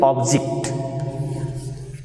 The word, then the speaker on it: object: Same is the case with object. So here in verb, the stress is on first syllable, and when it is to be used as noun, the stress will be on second syllable, that is object.